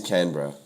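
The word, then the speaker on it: Canberra: no look I've I've heard all sorts of pronunciations but but it is canra canra okay very good well that I am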